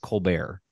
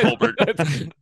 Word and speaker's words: Colbert: Brad Colbert. Wrong. Nailed it. It's actually Colbert.